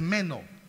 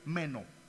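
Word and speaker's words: μένω: el evangelio de juan permanecer es menos así se pronuncia en el griego menos pero qué significa la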